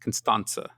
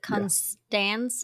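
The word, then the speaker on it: Constanta: her name is pronounced constans I've been wondering how to pronounce it this whole time it's not a hard te I believe it is taken from the Romanian spelling and the Romanian alphabet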